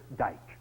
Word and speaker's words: Dyck: an American officer who always pronounced my name the original and probably correct way Dyke so you're Mr Dyke